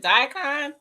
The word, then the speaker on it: daikon: And then this is my what is it called, a how you pronounce that? Raccoon radish. Oh yeah. I know what you're talking about. That is it daikon or Yeah, daikon? Daikon, daikon.